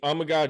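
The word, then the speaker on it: Amegadjie: Amagaji, All right. like Tamagotchi.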